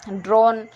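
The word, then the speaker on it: drone: ड्रोन, यहाँ पे ई को नहीं पढ़ा जा रहा है, ओ को ओ पढ़ रहे हैं।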